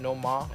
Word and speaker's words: Noma: We're here with Amon, creator and director of Noma NY. I'm pronouncing it right, correct?